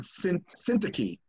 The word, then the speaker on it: Syntyche: You know, in, one of Paul's letters, he says, tell you, Odia and Syntyche, is how you actually pronounce it, to get along.